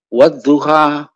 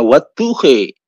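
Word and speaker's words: والضحى: Itu kalau membaca wadduha begitu ya, kita kan biasa baca wadduha, tetapi beliau kadang-kadang dalam musabaqah tilawatil Quran membacanya wadduhi, walaili idza saji.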